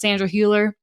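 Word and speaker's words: Sandra Hüller: I'm so sorry but I believe it's pronounced Sandra Herer I don't know it's one of those you with the two dots above it but does nominating any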